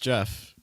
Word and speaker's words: Jeff: by the way guys my name is pronounced Jeff sometimes people have a hard time with that je Jeff all right